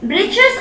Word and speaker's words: breeches: Okay, breeches, breeches or short trousers. The writer here spells it for fun to rhyme with the word witches.